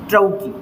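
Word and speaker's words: trochee: टी से हो जाएगा ट्रौकी फूड, ट्रौकी, प्रोनाउंसिएशन भी ध्यान रखिएगा ना, ट्रौकी फूड।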